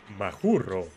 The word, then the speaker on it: Mascorro: del Gran líder guachichil mashorro que de acuerdo a las crónicas se pronuncia majuro 1554 fue el año